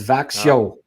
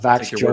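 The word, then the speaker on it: Växjö: So it's Vaxio, not Vaxio or Vaxio.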